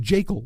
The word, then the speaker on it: Jekyll: It's pronounced Jekyll.